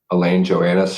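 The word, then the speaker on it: Alain Johannes: Also, Elaine, I think his last name's pronounced Joannis. Elaine Joannis.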